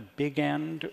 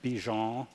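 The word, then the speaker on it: Bigend: the big end or I don't know how that's pronounced is it beon well I call the big end I call it Big end because I assume that most of the the characters in the books who are pronouncing it that way being unable to muster the the Franco Belgian pronunciation as indeed I am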